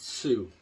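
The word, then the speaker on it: Sioux: You spell it S-I-O-U-X. I assume you pronounce it Sweet Sue.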